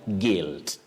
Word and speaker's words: guilt: Letter U is not pronounced, just like in the word guilt.